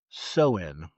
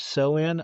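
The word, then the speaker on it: Samhain: The holidays roots trace back over 2,000 years to the Celtic festival of Sewin, which is spelled S A M H A I N. How that is sewen, I'm not sure.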